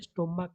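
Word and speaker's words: stomach: For example स्टोमक, यहाँ पे स्टोमक के एंडिंग में सी एच ए, लेकिन हम उसको जब प्रोनाउंसिएशन करते हैं हम क्या करते हैं, स्टोमक करते हैं, मतलब क करते हैं।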